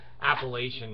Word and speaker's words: Appalachia: here he knows the Appalachian Mountains I don't know if Appalachian Mountains we could they call it Appalachia that's the way they pronounce it here in Kentucky but it might be